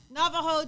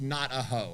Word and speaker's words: Navajo: The Navajo tribes, and which is not pronounced not a hoe.